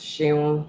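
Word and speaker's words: Seun: my name is shane it's spelt s-e-u-n it's pronounced shame shame i'm the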